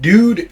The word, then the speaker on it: dood: Where did dude come from? I've never seen anyone spell it that way. Well, it's a shortening of doodle. And it also sounds like dude, you know, d u d e obviously.